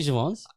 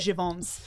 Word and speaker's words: Jeavon: People Is say it- Jeavon's. I say it's Jeavon. Is it actually Jeavon's?